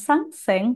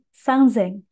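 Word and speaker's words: 三千: Hati-hati ya, bukan sangseng, tapi sangzeng.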